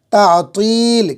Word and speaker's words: تعطیل: چھٹی، تعطیل مانے چھٹی، لیکن تلفظ درست کرے، تا ہے، عین ہے، تو ہے، یا ہے، لام، تعطیل، کھینچ کے یا لگ گئی کھینچیں گے۔ دستور، قانون، مقدمہ، کیا پڑھیں گے اس کو؟